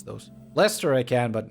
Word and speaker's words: Leicester: Leicester I'm not even sure if I can pronounce those Lester I can but not sure about gluster and